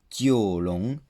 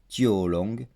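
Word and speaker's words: Jiulong: Alors je ne connais pas la prononciation en cantonais, mais en mandarin ça se dit Jiolong, Jiolong.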